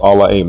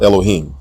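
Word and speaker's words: אֱלֹהִים: This particular word from Genesis 1:1 is pronounced Allahim, not Elohim. There is no long O vowel in this word.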